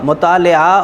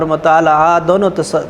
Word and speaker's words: مطالعہ: کہ بہت وسیع تھا۔ مطالعہ اور مطالعہ دونوں تلفظ درست ہیں بچوں۔ تو کہتے ہیں کہ